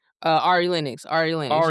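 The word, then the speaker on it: Ari Lennox: Uh, Ari Linux.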